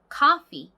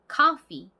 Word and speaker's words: coffee: 커피는 앞쪽에 강세가 있는 단어이고요.